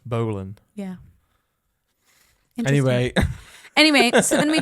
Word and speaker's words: Boleyn: And I thought that one of his wives, Anne Boleyn, I think it's pronounced Berlin, but I thought it was Berlin, like Berlin. Berlin. Yeah. But it's not. It's Boleyn.